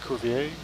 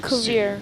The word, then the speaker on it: Cuvier: Cuvier? Culver? It's spelled like Cuvier.